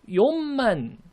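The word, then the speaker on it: 四千: 연만이나 용만이 아니고 용만, 이게 무슨 말이냐면 받침이 미음 받침이 돼야 되는 그런 법칙이 발생합니다.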